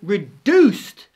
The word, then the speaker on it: reduced: But actually it was just because in British English, often when we see a D, we pronounce it as a J.